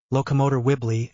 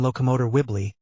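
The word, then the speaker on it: Locomotor Wibbly: Remember to stress the LO and MO on the first word and wo the second. Now, let's hear it. Locomot wibbly again. Locomot wibbly.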